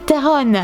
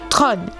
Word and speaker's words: Theron: cesse de l'appeler charlize theron sauf que ce n'est pas la véritable prononciation theron se prononce en réalité tron non plutôt autre oeil enfin elle le dit mieux que moi quand elle était